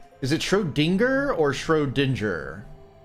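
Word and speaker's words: Schrödinger: Shrodinger. So, it's dingga, not ding. Okay.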